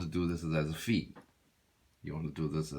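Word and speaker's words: φ: beta gamma theta phi these are what we call english pronunciations and actually for all the eyes right greeks Saifi this is a fee there's a theta okay and this is we say beta right what they really sing Vita this is this is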